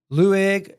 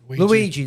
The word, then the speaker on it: Luigi: Lueg Nicholas Mangione, if I'm pronouncing his last name right, 26. I think his name is Luigi. Luigi, that's it. Yeah, Luigi.